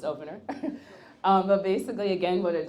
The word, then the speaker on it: Opnr: Opnr is pronounced Opnr.